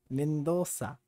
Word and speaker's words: Mendonça: How do you pronounce it? A rainha Marília Mendonça. Mendonça.